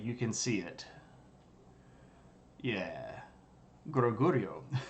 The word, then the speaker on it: Goguryeo: Goguryeo. No, it's pronounced Goguryeo.